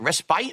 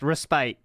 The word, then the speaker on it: respite: needed respit is it respite or respit I think it's right but is it respite I don't know how to pronounce the word respite you got it right correct respite well here's the thing